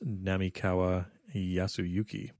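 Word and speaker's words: 並河靖之: The pronunciation that we used in the last episode is incorrect. It is Namikawa Yasuyuki.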